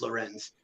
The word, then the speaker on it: Lorenz: They were pronouncing it rank, Hmm. but it's Lorenz.